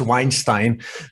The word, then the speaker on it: Weinstein: I think it's Weinstein, because it's Stein means stone in German.